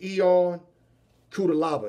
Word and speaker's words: Ion Cutelaba: Glover Teixeira, 11th ranked, versus Ion Cutelaba.